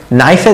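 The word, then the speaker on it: knife: তারপর এখানেও নাইফে দেখেন কে আসছে, কিন্তু কেটা উচ্চারণ হয় না, জাস্ট এন থেকে উচ্চারণ হয়। নাইফ, নাইফ। এগুলোর পিছনে এরকম কোনো রুল টুল কিছু নাই, জাস্ট মনে রাখবেন যে কেটা সাইলেন্ট নাইফে, এগুলো একটু মনে রাখতে হবে।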